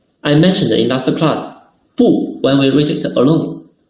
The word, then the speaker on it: 不: 不 when used alone or followed by a syllable in the first, second, or third tongue, its tongue doesn't change. 不吃不行不好不喝不能 See, 不吃吃 first tongue, 不行行 second tongue, 不好好 third tongue. So when we put it before first tongue, second, third tongue, we should read fourth tongue. 不 While when 不 is followed by a syllable in the fourth tongue, it will be changed into the second tongue.